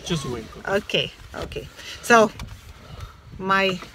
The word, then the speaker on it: Choshuenco: Right now we are in Pangipui, and the volcano that you just saw is called Chosuenco. Is that right, Jorge? Yeah, Mocho Choshuenco.